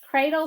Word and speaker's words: cradle: This syllable says dull. Put it together. The word is cradle.